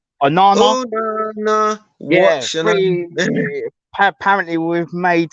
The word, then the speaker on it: Onana: How do you pronounce his name? Onana. Onana.